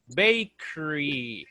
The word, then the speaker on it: bakery: Pronunciation of this, bakery. Bakery. The E is very small. Bakery. Bakery. It's not bakery. You don't say the complete E.